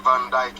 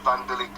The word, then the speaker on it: Van Dijk: to pronounce his name he's not called the Van Dyke it's called vandalik because that can't be